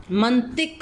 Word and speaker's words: منطق: خے کے اوپر جزم۔ منطق لفظ ہوتا ہے، میم کے اوپر زبر، نون کے اوپر جزم، توئیں کے نیچے زیر اور کاف کے اوپر جزم۔ تو حکمانہ، تے